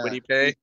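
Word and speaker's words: Kwity Paye: Mitch, did I pronounce that Michigan guy's name right? Yeah. Quiddy Pay?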